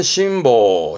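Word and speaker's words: 辛抱: 매운 거를 참고 안고 있는 뭐 그런 느낌인데요 발음은 심보 심보 심보 이 한자의 뜻은 요런 느낌이세요 앞에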